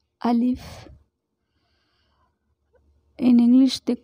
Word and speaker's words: alif: this so this is the arabic first letter alif in english they call a l i f so we have to pronounce like this alif alif yeah so this